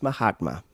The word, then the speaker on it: Mahatma: my hot man gandhi it's pronounced mahatma but i get the